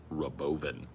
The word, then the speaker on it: Robovan: What I'm saying there is Robovan, but it's pronounced Rabovin.